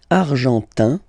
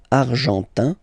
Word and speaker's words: argentin: And then l'Argentine, argentin, in, gives you this un sound, argentin, okay, and then Argentine,